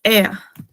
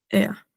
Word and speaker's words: er: También, o sea, EA también es él, o sea, el tercera persona masculino singular, el pronombre, o sea, para él, se pronuncia EA, EA.